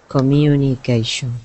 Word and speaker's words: communication: Communication. Right. So again, in this case, the U in the middle sounds like the word U, like this.